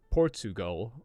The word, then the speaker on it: Portugal: the word Portugal now what is happening when we say port chew go it's not spelled poor chew like chewing something go right it's spelled Portugal but we don't say it like that right we say Portugal and this CH sound